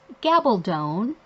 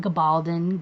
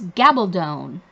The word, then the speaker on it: Gabaldon: And yes, her name is Gabaldon, rhymes with stone. If you watch any of her YouTube videos and interviews, she will tell you that. So her last name is Gabaldon, not Gabaldon, Gabaldon, whatever.